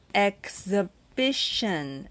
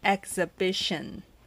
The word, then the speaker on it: exhibition: 音，所以我们就念 Exhibition， Exhibition，会的吗？